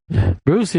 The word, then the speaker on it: Brucey: Brucey rhymes with Smoochie. Kind of.